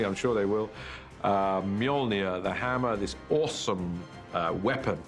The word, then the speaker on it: Mjolnir: The first challenge with the hammer is to work out how to pronounce it, which is Mjolnir in our movie at the moment. Until somebody corrects me, I'm sure they will.